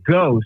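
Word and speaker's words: Geaux: G E AU X with the French pronunciation the Canadian French there.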